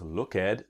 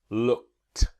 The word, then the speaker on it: looked: Now we don't pronounce look at but looked.